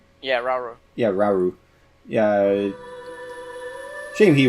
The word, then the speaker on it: Rauru: God, I keep forgetting how to pronounce his name. Rauru? Yeah, Rauru.